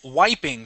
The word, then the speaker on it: wiping: word here uh is wiping so it's a long eye sound not weeping but why wiping wiping good okay um this